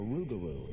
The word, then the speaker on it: rougarou: or even a bird the lougarou or rougarou as the local Cajuns pronounce it is not a peaceful